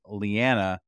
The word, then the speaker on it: Leanna: is lyanna and she introduced herself as lyanna rhymes with banana and I I'm like